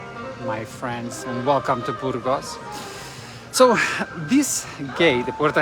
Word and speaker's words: Burgos: Burgos is spelled B-U-R-G-O-S, Burgos.